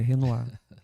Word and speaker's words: Renoir: Renoir. Eu falei Renoir. Aí o cara, não, é Renoir que fala. Não, mas tá escrito lá Renoir. Não, mas ele é francês, é Renoir.